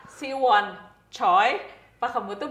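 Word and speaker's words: Choi Siwon: coy Kore enggak kalau di Korea dibacanya chy Siwon Oh ya kenapa enggak choy Si Won salah Ber di Indonesia tuh ada di beberapa acara disebutnya Si Won choice harusnya one choice kita baca Si Won choy Pak kamu tuh bacanya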